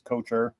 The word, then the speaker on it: Kocher: So it's like a football coach. It's Kocher. Oh, okay. All right. Cocher. Yeah. All right. I was close. Then. All right. Yeah, I rather hear Kocher than Cocker.